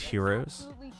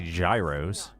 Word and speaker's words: gyros: out to me on split is crew pronounced heroes giant in America. Hey, at least I didn't say gyros.